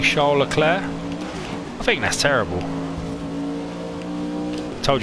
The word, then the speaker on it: Charles Leclerc: of French Italian one would say his name Shola Claire spelled Charles Leclerc however for the TV cameras because we are such simpletons he actually pronounces his name Charles Leclerc as well just because English people were incapable